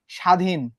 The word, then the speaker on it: স্বাধীন: এখন স্বাধীন উচ্চারণ করার সময় তুমি কি এখানে ব ফলার বা বর কোনো উচ্চারণ পাইছো? নিজেকে প্রশ্ন করো। স্বাধীন উচ্চারণে কি ব নিয়ম আসছে? ব উচ্চারণের সময় কি আসছে? না। স্বাধীন উচ্চারণে বয়ের নিয়ম আসে নাই, বা বর উচ্চারণটা আসে নাই। তার মানে দেখো, এখানে ব কোথায় যুক্ত আছে? প্রথমে যুক্ত আছে। প্রথমে যুক্ত আছে না? প্রথমে যুক্ত থাকলে কি বটা উচ্চারিত হয়েছে?